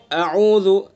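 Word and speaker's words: أعوذ: باللہ من الشیطان الرجیم۔ دیکھیں اعوذ بالکل حمزہ کو اور عین کو الگ الگ ادا کرنا ہے،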